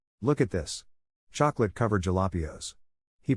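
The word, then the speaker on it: jalapeño: father goes wow look at this chocolate covered jalapios he pronounced it completely correctly his family burst out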